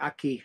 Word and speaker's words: Aki: How you pronounce Aki? Aki, yeah, Bundi Aki.